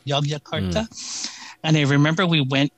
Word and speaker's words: Yogyakarta: airline code is jog so they call it jog Jakarta it's it's spelled Yogi yakarta y Yogyakarta and I remember we